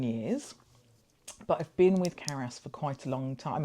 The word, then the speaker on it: CARAS: Is that the right pronunciation? Yes, CARAS.